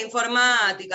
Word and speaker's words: informática: A la informática, a la computación. Muy bien. Fíjense que informática va con acento en la A, ¿eh?